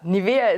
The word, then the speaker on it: Nivea: really have is nivea nivea is by the way the german pronunciation and now you will